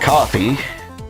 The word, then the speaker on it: Kofi: Kofi, pronounced coffee.